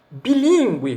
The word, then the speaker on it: bilíngue: Por isso, deve-se recorrer a um dicionário para saber que bilíngue, por exemplo, não forma dígrafo consonantal em GU, porque o U é fonema, mesmo diante de E, mas em distingue, do